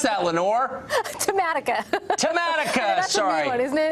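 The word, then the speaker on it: Tematica: You tell me how to pronounce that, Lenore. Tamatica.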